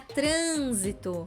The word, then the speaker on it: trânsito: ir com acento circunflexo a palavra trânsito mesma coisa antepenúltima sílaba mais forte e é trânsito não é trânsito né é uma pronúncia mais fechada então a gente já sabe que tem acento circunflexo mais dois exemplos acadêmico acadêmico